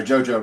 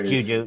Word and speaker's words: Juju: they went on to beat gu guu or JoJo rather and USC it's Juju you said it right is it Juju okay